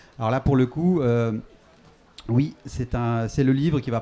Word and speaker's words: Hauuy: Alors cet après-midi sont avec moi Nicolas Beuglet et Vincent Oui. Je le prononce bien ?